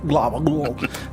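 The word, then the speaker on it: Glabbagool: I think you have to swallow when you say the name to pronounce it properly. Glabaglool.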